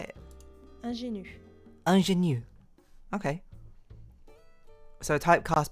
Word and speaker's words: ingénue: Ingénue.